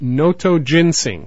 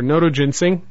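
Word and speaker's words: Notoginseng: Tian San Chi, its Latin name is Noto Ginseng, spelled N-O-T-O-G-I-N-S-E-N-G. Again, N-O-T-O-G-I-N-S-E-N-G. Now, why Tian San Chi? Tian San Chi, or Noto Ginseng, back in our first encounter here in the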